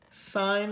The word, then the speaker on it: sine: going through these so this is pronounced sine not sin this is cosine not